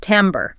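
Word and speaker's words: timbre: This is a word whose French origin completely dictates its pronunciation, which can be really confusing for English speakers who might expect something closer to timber, like wood.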